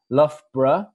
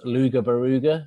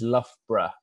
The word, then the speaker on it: Loughborough: to save time and Loughborough is the easiest way of pronouncing it we have had many different pronunciations such as Luger burger and Lao where Al and Loughborough but I think the easiest way of pronouncing it is Loughborough soul of breath that's perhaps the easiest way of pronouncing the university